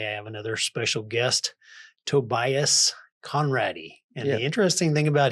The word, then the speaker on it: Conrady: Yeah, my uh last name ends with a Y, their last name ends with an E. Pronounced exactly the same though.